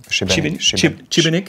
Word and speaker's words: Šibenik: Je prononce bien Šibenik.